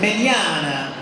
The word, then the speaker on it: Mignogna: It's pronounced Mignogna, like Italiano, Mignogna.